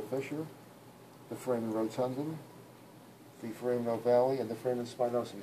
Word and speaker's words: foramen ovale: Oval, foramen oval. Yeah, pronounce the E. Say Valley. foramen ovale.